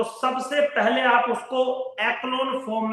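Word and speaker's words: echelon: करी जिसका नाम है एक्लोन फॉर्म। ठीक है बेटा, एक्लोन form of the matrix. एक्लोन बोलते हैं कुछ लोग, इसको एचलॉन फॉर्म बोलते हैं, डजंट मैटर, स्पेलिंग की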